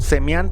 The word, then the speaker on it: Sam-mi: una chica llamada Sam-mi, pronunciado en coreano algo así como Semian, pero para hispanizarla lo vamos a llamar aquí Sammy, quien por supuesto en